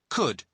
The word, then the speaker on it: could: because he's being polite listen to the pronunciation could could you spell it cou LD but the letter L is silent could now listen to